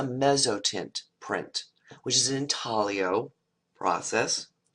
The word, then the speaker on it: intaglio: it's a thali oh it's in how that's pronounced intaglio is antonio printmaking process notice how linear it